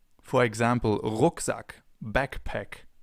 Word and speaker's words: Rucksack: This sound is different than in English. In English it would be R. In German it's R. We form it more in the back of our mouths. For example, Rucksack, backpack, Rucksack.